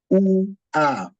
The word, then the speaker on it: ua: So we have situations whereby we will have, for example, the word U-A is UA. We call it UA. UA means flower. UA. So you pronounce that UA.